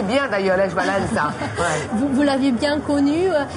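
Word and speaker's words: Lech Wałęsa: Vous prononcez bien d'ailleurs Lech Walesa.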